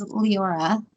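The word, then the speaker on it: Liora: from courtney the name of her band is leora is that how you say it yeah l-i-o-r-a and people pronounce it all kinds of weird ways but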